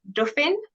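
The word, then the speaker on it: Dophie: bit better, which is my nickname is Duffin. So not as in like Duff beer, like from The Simpsons. It's spelled like Sophie, but instead you drop the S and replace it with the D. So it's like Dauphin. So you kind of said it sounds a bit French.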